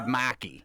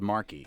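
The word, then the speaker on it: Markey: I always feel I call you Ed Maki, not Ed Marky. Well, finally, someone would be pronouncing my name correctly.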